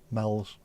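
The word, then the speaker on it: Meols: Meals, there you go. Yeah, we pronounce it meals, but in Formby, there's a place called Argamells Road. Argamells, M-E-O-L-S. Mells.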